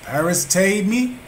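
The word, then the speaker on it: paristēmi: We have yield, and it is G3936, Greek 3936, and it is paristemi, and it is spelled Paristemi, and it means to stand beside, to exhibit, recommend.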